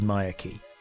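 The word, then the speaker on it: Myreque: I pronounce it Maya Key.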